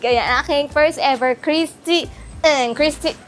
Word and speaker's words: Christy Ng: Chrisy ang daw ang ang pronunciation dito.